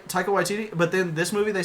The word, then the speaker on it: Waititi: Waititi. Taika Waititi.